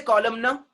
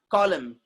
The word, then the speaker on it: column: Do we say column no? No. N is silent over there. Column. We say column, not column no.